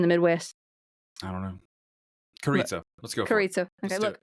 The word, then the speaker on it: Carrizo: Carrizo. Among the Carrizo. Is it Carrizo? How do you spell it?